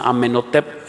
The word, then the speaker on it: Amenhotep: Algunos otros dicen que era Amenhotep, así se pronuncia, Amenhotep, era otro faraón.